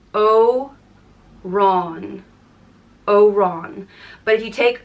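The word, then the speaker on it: Odhrán: one or pale little green one and it's pronounced o Ron oon but if you take away the F over the a it becomes or in Orin or or an Oran and this is very saintly name there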